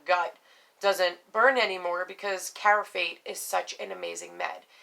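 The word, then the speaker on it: Carafate: doesn't burn anymore because caraphate is such an amazing med it's exactly how you say it is exactly how it's spelled c-a-r-a um f-a-t-e sorry i forgot how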